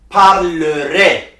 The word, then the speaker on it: parlerai: So for je and vous, they pronounced parlerai. For tu, il, elle, they pronounced parlera. For nous, il, elle, plural, they pronounced parleront. So for je, AI is pronounced A.